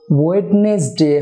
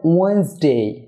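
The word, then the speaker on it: Wednesday: Dear viewer, ওয়েডনেসডে হবে ওয়েন্সডে, এক্ষেত্রে প্রথম ডি এবং এন এর পরের ই উচ্চারণ হবে না, তাই ওয়েডনেসডে হবে ওয়েন্সডে।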